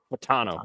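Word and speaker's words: Fautanu: name I'm sorry how was it again fatano fatano okay so Troy fatano if you go and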